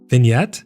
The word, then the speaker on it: vignette: Vignette. Is that how it's pronounced? Really? Vignette. I never would have guessed that. Like half the letters are just silent.